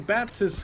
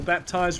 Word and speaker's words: Baptiste: You aren't playing Baptist because he has... Or Baptiste, rather.